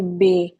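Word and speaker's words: باء: यानी जैसे बे हम उर्दू में बोलते हैं तो अरबी में हम इसको बे नहीं बोलेंगे बा बोलेंगे।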